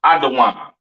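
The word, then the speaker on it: אדום: Edom, Idawam, the devil that the Bible speaks of, your oppressor, the so-called Caucasian man, woman, and child, pronounced Idawam.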